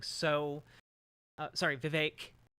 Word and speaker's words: Vivek: like so uh sorry Vivek rhymes with cake see ya on the